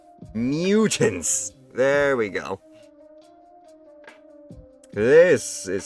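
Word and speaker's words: Myutant: It's just spelled with a Y. M-Y-U-T-A-N-T. Mutants.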